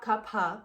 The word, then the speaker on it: Kapha: Like anytime we would talk about Kapha, which is the correct pronunciation, he would just like go on forever and just have this glow.